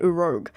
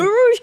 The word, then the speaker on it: Urouge: Okay, I've been saying his name wrong. I've been calling it Uroge. that's good. That's strong. I like that. I mean, fair enough, but yeah. Rogue. That's cool. I mean, Urouge coming in 2024.